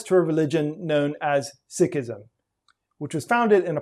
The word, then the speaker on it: Sikhism: and by the way i'm saying sikh and sikhism on purpose that is the way that it's actually pronounced in punjabi and the way lots of six prefer it to be pronounced there are 25 million